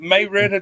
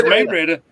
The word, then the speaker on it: Marietta: Well, how about Marietta, Georgia? Marietta? Marietta. No, it's Marietta.